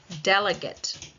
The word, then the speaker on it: delegate: by my mouth movement now the noun delegate Delegate. Delegate. Delegate. It's on the first syllable.